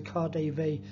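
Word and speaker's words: KaDeWe: via Wittenberg Platz which is adjacent to the car Dave department store that so to give it its proper pronunciation and goes as far as the Khalif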